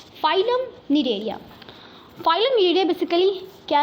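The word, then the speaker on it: Cnidaria: निडेरिया, ध्यान से देखो, NIDARIA निडेरिया, सी साइलेंट है। जैसे कि ऑनेस्ट में एच होता है ना साइलेंट, वैसे यहाँ पे निडेरिया में हमारा सी साइलेंट है।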